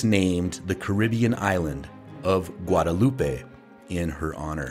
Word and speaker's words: Guadalupe: the Caribbean island of Guadalupe in her honor no I I think I think it's pronounced guadaloop yeah you know what I've